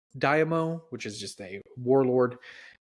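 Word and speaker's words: daimyo: in Japan there is I believe it's pronounced Damo which is just a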